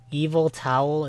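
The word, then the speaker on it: Yveltal: Evil towel is how it's pronounced.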